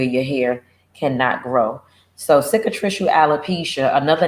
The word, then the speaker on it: cicatricial: Cicatricial alopecia, cicatricial is how you pronounce it, and it's spelled CICITRICIAL, cicatricial alopecia.